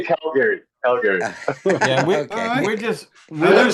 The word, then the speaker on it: Calgary: We say Calgary. We say Calgary.